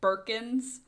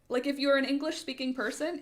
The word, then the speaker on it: Bikinas: I was like, it goes vowel, consonant, like it's very, to me, it's Bikinas. It follows a very, like if you're an English speaking person, it follows a very clear phonetic pronunciation to me. If you just read it, if you know the word bikini, you'd go you'd go bikini, and then you go, oh no, it ends with as, so it's bikina.